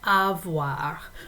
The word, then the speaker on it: avoir: we use the verb avoir so this is a similar pronunciation to words like soir i um so that o i combination sounds like wha and its conjugation is